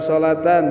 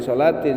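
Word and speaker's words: صلاةً: Man taraka salatan, berarti salatan bacanya jangan salatin, sebab salatan jadi maf'ul bih.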